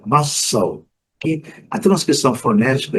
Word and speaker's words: Moscow: Pode falar Moscou, Moscou, né? Nada disso, é Moscow.